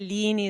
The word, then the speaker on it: Lini: Lini is our family name.